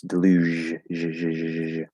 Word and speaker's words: deluge: deluge sound deluge yeah it's not a j it's deluge um one of the the relatively few words that use the j sound um it's like the